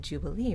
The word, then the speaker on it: jubilee: stressed jubilee the word jubilee right jubilee day the word jubilee is stressed but what's really stressed is not the whole word it's the stressed syllable jubilee the third syllable so she doesn't do